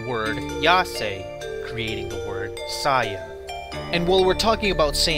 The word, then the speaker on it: Saiyan: In the Japanese dub, Saiyan is pronounced Saya, like Saiyajin. And the Japanese word for vegetable is Yase.